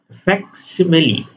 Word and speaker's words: facsimile: আচ্ছা, ঠিক আছে, এটা উচ্চারণটা দেখেন, খুব ইন্টারেস্টিং একটা শব্দ উচ্চারণটা। হ্যাঁ, এই যে ফ্যাক্সিমিলি, ফ্যাক্সিমিলি উচ্চারণটা, হ্যাঁ, FAC, ফ্যাক্সিমিলি।